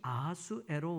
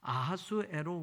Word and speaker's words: 아하수에로: 자, 아하수에로 왕 하는데, 이 아하수에로라는 말은 히브리식의 발음이에요. 이 원래 페르시아식으로 이 아하수에로의 왕은 크세르크센스 뭐 이렇게 페르시아식으로 이야기할 수 있는데, 이 크사이아르산이라고 하는 이 단어를 히브리식으로 아하수에로라고 해서 우리 성경에는 히브리식 발음이 돼 있는 거고, 헬라어로 이거를 번역할 때는